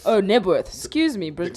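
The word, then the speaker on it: Knebworth: do you say that, Newburth? Nebworth. Oh, Nebworth. Excuse me, The Brit. K is silent.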